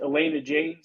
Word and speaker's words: Elena Jaynes: uh uh and and you uh your name's pronounced Elena James is that correct yes that's correct yeah I